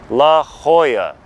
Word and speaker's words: La Jolla: look like a non-local it's a Spanish word Spanish people Mexican people Spaniards pronounce it La Hoya just trust me on